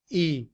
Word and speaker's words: he: But in reduced form, we drop the sound of the h and combined with is. We say is he. We just say e for he.